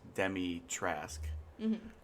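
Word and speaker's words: Dimitrescu: but demotrask is it's it's hard to pronounce at first because you don't know how to say it like after playing the game you're like okay so it's demi trask yeah she's tall vampire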